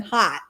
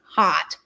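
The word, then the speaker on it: Haut: I'm cracking up that she has no other name than Hot. I know, and it's spelled H-A-U-T, Hot.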